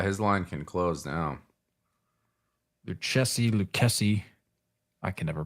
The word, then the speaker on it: Lucchesi: Lucchesi. I can never pronounce his name. It makes me want to say like the boots, like the cowboy boots, Lucchesi.